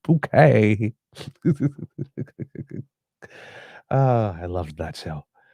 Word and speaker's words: Bucket: It's that infernal bucket woman. It's pronounced bouquet.